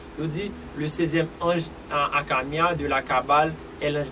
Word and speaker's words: Hakamiah: Que génie que nous avons porté pour là, c'est le 6e génie qui c'est Akamia qui s'écrit H-A-K-A-M-I-A-H.